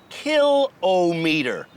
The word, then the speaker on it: kilometer: It's pronounced kill meter, writes Robert Spears, a speech coach from Halifax.